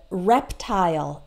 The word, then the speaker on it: reptile: is American or British so we always pronounce it like Isle in the short words like smile okay pile tile as well as reptile and profile like your